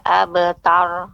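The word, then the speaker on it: أبتر: abettor pantai tapi mengucap pengucapan roh Ibu jangan juga tidak ada getaran eh better kabeter itu roknya tidak bergetar a better cuman roknya kita tegangkan kita keraskan sehingga dia AB tar tidak juga ya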